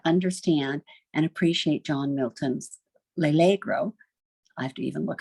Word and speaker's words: L'Allegro: It's nearly impossible to understand and appreciate John Milton's L'allegro. I have to even look at the pronunciation. L'allegro, pronunciation on that second syllable, without also having read